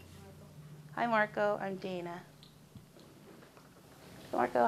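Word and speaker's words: Dayana: name hi marco i'm dana marco how do i spell that it's not really spelled the way it sounds okay it's d a y and a okay i'll see you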